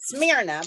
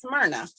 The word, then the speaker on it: Smyrna: sounds like it's spelled a lot of people call it Smyrna but it's Smyrna well it's because I